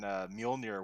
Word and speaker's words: Mjolnir: For the longest time, I thought that the J in Mjolnir wasn't silent.